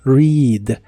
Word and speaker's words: read: de inglés es read la e de esta palabra se pronuncia como una I larga o doble y la a no se pronuncia Así que es read read en el presente lo